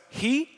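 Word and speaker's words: ἡ: So that first word is pronounced like this, automati. That little next word goes he.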